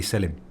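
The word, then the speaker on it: Selim: if if you print if you were turkish and you pronounced it you'd be selling oh okay nice selling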